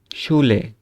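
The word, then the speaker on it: Schule: আর এস সি এইচ থাকলে কি হবে? তালব্য উচ্চারণ হবে, তালিবাস্য। যেমন ইংরেজিতে শিপ বা শি এর শি, ঠিক আছে? তারপরে যদি আমরা উচ্চারণ করি, আবার 5টা উদাহরণ দেওয়া আছে। শুলে, শুলে মানে স্কুল।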